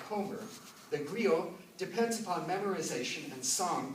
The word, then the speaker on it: griot: Of course, it's being written in French, so it's spelled G-R-I-O-T, griot.